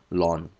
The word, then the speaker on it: ln: form will be ln2 this is pronounced as Lan L 20 let's convert